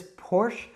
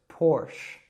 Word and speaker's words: Porsche: Now, I would probably say this Porsche, but I've also heard a lot of people say Porsche. Now, probably if you say either of these, people will understand you in the United States. It kind of will just depend on your preference. But make sure that you're saying the sounds correct, so it's Porsche.